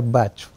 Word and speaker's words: Bach: É engraçado, todo mundo fala florais de Bach, porque é a pronúncia alemã do compositor, mas ele era inglês, então o certo seria Bach.